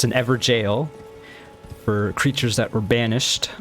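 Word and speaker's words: Evergaol: also have another uh epergal as i was calling them i looked it up and it actually is just pronounced jail which makes more sense it's an ever jail for creatures that were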